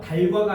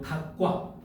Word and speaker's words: 닭과: 14번 뭐예요? 닭과. 달과가 아니고 닭과 그죠? 그다음에 16번.